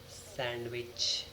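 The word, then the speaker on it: sandwich: प्लबर B silent है सैंडविच नॉट सैंडविच इट्स सैंडविच सैंडविच D silent है यहां पर हैंडसम नॉट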